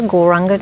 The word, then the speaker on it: Gauranga: So we're going to add the mantra Gauranga to our breath. The mantra is said in 4 syllables. Gaur, Ra, Ang, Ga.